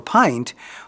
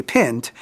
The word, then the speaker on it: pint: But there are words like P-I-N-T or pint, which by rule should be pint, but are pint because of morphological history and accidents of how English is developed.